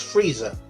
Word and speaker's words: Frieza: No, that's Frieza, and it's pronounced Frieza.